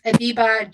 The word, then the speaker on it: Adiba: So my name is pronounced Adiba JAIGIRDAR.